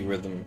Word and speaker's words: rhythm: The the ones that have a silent letter. In case of rhythm, it's the H.